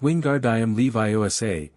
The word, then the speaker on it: Wingardium Leviosa: It's Wingard. I am Levi Osa. Make the gar nice and long.